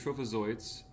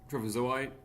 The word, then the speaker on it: trophozoite: Diagnosis would be multinucleated trophozoites. I've heard of trophozoite, I guess. Trophozoite. I always pronounce it trophozoite.